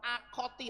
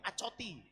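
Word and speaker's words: אחות: Artinya saudara, kalau perempuan akoti, atau kalau saya dulu bacanya bukan akoti tapi acoti. Tapi sebenarnya yang benar akoti gitu ya.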